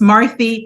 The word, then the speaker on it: Marthe: do you say your name oh well it's marthy there it goes like the cherubs